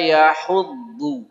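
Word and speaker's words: يحض: ini ada kesulitan lagi hurufnya Dod ya bukan Dal kalau tadi yaduu itu De biasa yang ini wala yahudu seperti pada kalimat waladolin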